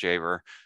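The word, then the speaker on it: Dziawer: Last name, D-Z-I-A-W-E-R, pronounced Javer, old German-Polish phonetic spelling of my family name before it got changed at Ellis Island, in case you're wondering.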